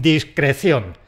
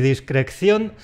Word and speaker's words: discreción: Es necesario que actuemos con discre… ¡Con discreción! De “discreto”, de “sujeto” tenemos “discreción” y tenemos “sujeción” con una sola ce. No quiero oír ni “discreCCión” ni “sujeCCión”.